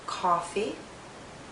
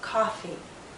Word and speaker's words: coffee: people drink Oh coffee some people drink coffee coffee coffee 00 coffee if you hear Oh coffee the lips are more rounded and the tongue is pushed backward more if you hear ah coffee the lips are more relaxed and the tongue maybe more forward coffee coffee listen as